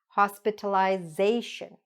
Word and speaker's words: hospitalization: Hospitalization. Okay? That's where we put the stress.